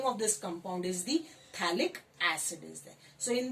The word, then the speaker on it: phthalic: In this pH is silent, the name of this compound is the phthalic acid is there.